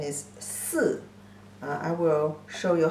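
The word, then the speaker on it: 四: Pronunciation is si.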